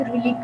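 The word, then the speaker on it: read: Example दी थी एक रीड की, अब रीड की थर्ड फॉर्म हमारे पास रेड है। स्पेलिंग वही होती है लेकिन हम उसको स्पोकन में रेड पढ़ते हैं।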